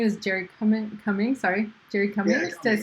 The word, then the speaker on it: Cummings: Sorry, Jerry Cummings.